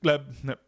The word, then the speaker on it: Gleb: Um, can he teach us how to pronounce Gleb? It's just Gleb.